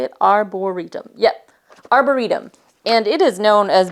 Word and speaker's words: Arboretum: So this one is Arboretum. Is that how you say it? Arboretum. Yep, Arboretum.